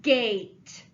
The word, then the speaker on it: gate: to make the sound let's look at the word gate do you see a sneaky e let's cross it out because it is silent remember sneaky sneaks behind the consonant and scares the vowel into saying it's long sound so we put a macron